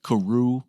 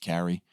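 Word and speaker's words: Carew: and freedom Thomas Carrie the name looks like Karu but it's pronounced Carrie he gives us a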